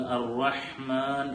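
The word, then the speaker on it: الرحمن: ഇവിടെ സാധാരണ സംഭവിക്കാറുള്ളൊരു പിഴവ്, അർ-റഹ്മാൻ എന്ന് പറയുന്ന പലപ്പോഴും അക്ഷരങ്ങൾ ഈ ഹായിലേക്ക് മാറിപ്പോവാൻ സാധ്യതയുണ്ട്. നമ്മുടെ തൊണ്ടയുടെ മധ്യഭാഗത്തിൽ നിന്ന് വരേണ്ട അക്ഷരമാണ്. അതുകൊണ്ട് അർ-റഹ്മാൻ എന്ന ആയിട്ട് തന്നെ ഉച്ചരിക്കാൻ വേണ്ടി ശ്രദ്ധിക്കേണ്ടതുണ്ട്.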